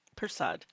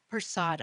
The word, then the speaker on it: Persaud: Persaud. Persaud.